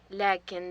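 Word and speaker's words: لكنّ: عندي سيارة، لكن ليس عندي دراجة. عندي سيارة، لكن ليس عندي دراجة. There is a strong form of lakin. It is pronounced in this manner.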